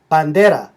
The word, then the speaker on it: bandera: In this case, the stress is on the next to last syllable.